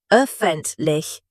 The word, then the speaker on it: Öffentlich: Öffentlich, rounded lips.